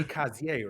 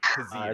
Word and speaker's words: Kazir: K Kazier, right? Really close. It's Oh, Kazir. Kazir. It's actually Kazir. it's French.